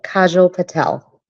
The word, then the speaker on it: Kajal Patel: We are with, sorry, I didn't get the pronunciation of your name. I don't want to mess it up. It's Kajal Patel.